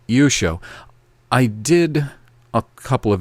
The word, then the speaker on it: Yeshua: Yeshua, not Yeshua or any other pronunciation. Yeshua.